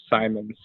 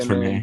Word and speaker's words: Simons: Is that how you say his name? Yeah, Anthony Simons. Yeah. Yep. Everyone wants to say Simmons or whatever.